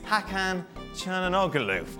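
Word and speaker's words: Hakan Çalhanoğlu: any words about the sound of it is hakkhan and ogaloof hey then this is my name i can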